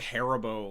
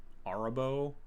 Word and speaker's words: Arahbo: this one AR arabo I want to say like harabo like the the gummy bears arabo the first Fang which